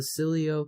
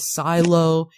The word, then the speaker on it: Sileo: what's funny is is people don't know how to pronounce Sileo after it's been explained a dozen times when people are calling it silo 20 should make one